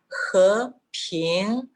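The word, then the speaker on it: 和平: recomienda, el primer segundo pronunciar hasta el medio del tono He, y luego de este medio seguir hasta lo más alto de la voz, Ping, hasta lo más alto. Así tendríamos He, Ping, dos sílabas en el segundo tono.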